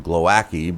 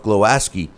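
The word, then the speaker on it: Głowacki: cruiserweight champ Kristoff glowaski I've been calling him glowaki because it's kind of spelled that way but uh Kristoff glowaski uh was who beat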